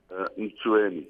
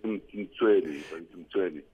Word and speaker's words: Mtsweni: How do you say it, Farouk? Mtsweni. Yeah, well, I'm saying it right then. Some people say Mtsweni.